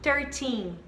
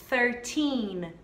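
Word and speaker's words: thirteen: pronúncia correta que é pertinho pertinho pertinho mais forte na última sílaba certinho e aí a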